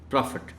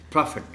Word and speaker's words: prophet: in terms of articulation prophet this word is sometimes mispronounced as prophet it's profit profit the next word honorable